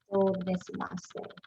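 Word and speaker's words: どういたしまして: they would return by saying do itashimashite. Do desimashite.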